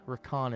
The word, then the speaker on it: Rakan: or twice before, but Raken, Rockin, no clue how to say your name. I'm so sorry, my love. But that's a new face along with Skarner. Yeah, Rakan. Rakan is how you say it. I'm pretty sure.